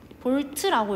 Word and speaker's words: 볼트: V는 볼트라고 읽습니다.